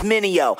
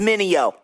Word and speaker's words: Mineo: Try to say my name, it's Mineo. Say it with me, Mineo.